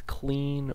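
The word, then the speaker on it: Kleene: Well, the way to do that is to use what's called a I think it's clean or Klein think it's pronounced Klein.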